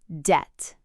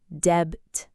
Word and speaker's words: debt: First word, debt. d e b t Notice the b is silent. We don't say debt.